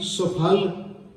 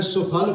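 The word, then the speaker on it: ਸੁਫਲ: मैं सुफल पढ़िया क्योंकि सस्से नूं औंकड़ है, सफल नहीं है। अर्थ भावें दे यही है कि जिंदगी सफल हो जाती, अर्थ वही ने पर उच्चारण असीं करांगे कि सुफल जन्म नानक तब हुआ।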